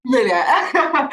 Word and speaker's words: Mlilo: So his name is Coundry Calvin Mlilo. I hope I pronounced that correctly. Mlilo, yeah. Mlilo.